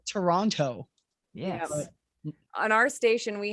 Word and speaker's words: Toronto: doesn't make sense but we don't pronounce that last t it is spelled toronto yeah on our station